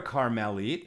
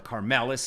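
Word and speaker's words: כרמלית: is the public domain or a karmelit, or a karmelis in Ashkenaz pronunciation, we have a problem because he doesn't have access to the food.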